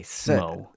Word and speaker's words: Smaug: Is it Smaug? Smaug? Is that how you pronounce that? Smaug? I would say Smo. Smo? Yeah. I've been lurking at random points. Smo, like snow.